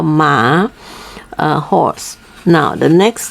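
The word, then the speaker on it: 马: a horse okay now you can always remember horse like you call it mama you know like a mother ma okay a little bit lower the top the tone so we call ma uh horse now the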